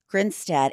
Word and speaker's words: Grinstead: Grinstead.